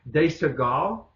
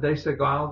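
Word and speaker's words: Desigual: Even now, I do a lot of shopping at De Segal. Is that how you pronounce it? De Segal, the clother?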